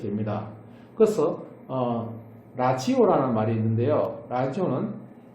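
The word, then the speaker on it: Lazio: 라지오는 레자이오, 원래 레치오라고 보통 발음합니다.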